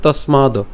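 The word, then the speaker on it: তস্মাৎ: এর উচ্চারণটা কেমন হচ্ছে তসমাদ। ঠিক আছে? এখানে দন্তসটাকে আমরা ত এর সাথে উচ্চারণ করলাম।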